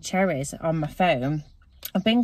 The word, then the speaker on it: Cherryz: I've been getting his treats from an app called Cherryz on my phone. I've been getting quite a few bits from him actually. It's spelt cherry and then a Z on the end.